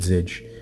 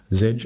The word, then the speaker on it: Zedge: ringtone so if i say just once with zedge it will open up zedge i give the